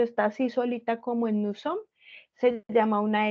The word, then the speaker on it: nous sommes: Y aquí nous sommes y estoy eliminando desde la M.